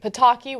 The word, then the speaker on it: Pataki: last name is stranger Pataki which of course rhymes with shitake so I automatically think